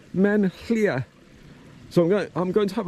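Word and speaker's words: Maen Llia: It's pronounced something like Men Llŷa.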